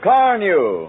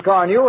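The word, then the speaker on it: Carnu: No, car new.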